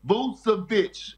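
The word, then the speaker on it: Vučević: It's Vucevic.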